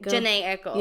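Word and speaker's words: Jhené Aiko: cozy in a studio together while he's dating Jenny Aiko. I think that's how you say it. Janae Aiko.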